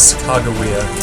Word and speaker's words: Sacagawea: Her name is Sacagawea. That's closest to how they phonetically recorded it.